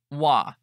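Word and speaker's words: は: whom we are talking hiragana ha we pronounce as wa when we use for particle Des means to be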